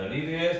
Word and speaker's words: read: he 그냥 레드 자 리드의 단 변화가 리드 레드 레드예요 형태가 똑같죠 어 근데 발음이 좀 다릅니다 read 나 그런 소서를